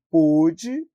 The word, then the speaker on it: pôde: Ele pôde, escreve do mesmo jeito, logo, a gente pronuncia de uma forma diferente, coloca o acento circunflexo